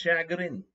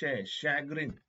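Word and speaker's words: chagrin: Don't pronounce it wrong. It's shagarin. It's c h a is shagrin.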